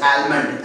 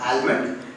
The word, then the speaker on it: almond: It is incorrectly pronounced as almond, as the spelling is A-L-M-O-N-D. It's not almond, it's almond. The letter L is silent here.